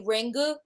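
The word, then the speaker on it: Ringu: of the Japanese movie rengu or just simply ring you can't say the you because the U is silent that's how the Japanese do it okay but I just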